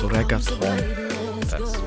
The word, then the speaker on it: reggaetón: Ah, it's pronounced reggaeton.